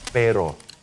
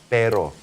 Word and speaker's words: pero: Use the E sound. Remember, all E's sound like E. All O's sound like O. We're not going to round our lips. And we're just simply going to say this. Now, try it all together. Pero. Pero. Pero. Pero. There you go. Take your air out. Flap your R.